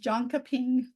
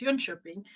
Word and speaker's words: Jönköping: I've always pronounced it Jonkoping. okay, yeah, it's Jönköping because the O's have two dots over, Okay. and a J is pronounced like a Y.